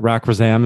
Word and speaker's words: Rak Razam: to the Third Way podcast today we have Rock razam did I pronounce that I can restart again rack is that rack for Zam is that correct you got it there's only